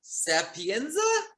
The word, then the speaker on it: Sapienza: I have on Zoom with me right now Melissa Sapienza. Is that how you pronounce it?